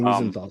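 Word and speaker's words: Wiesenthal: Wezzenthal Center. Simon Weisenthal Center.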